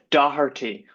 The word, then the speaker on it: Doherty: How do you pronounce Doherty, Dr. to be? Doherty, but everyone just calls me the at home, even before the pursuit of the PhD.